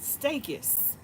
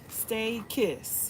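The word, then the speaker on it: Stachys: pronounce this word and it's called stakis. Stay kiss. Stay kiss.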